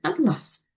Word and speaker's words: атлас: Наголос у цьому слові допомагає розрізнити його значення, як у слові атлас. Бачимо приклади. Ключ може бути таким, може бути ось таким. Атлас. А це атлас. Атлас. Так, наголос падає на перший склад.